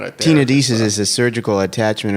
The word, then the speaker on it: tenodesis: Tenodesis so- is a surgical attachment of a detached tendon onto a bone.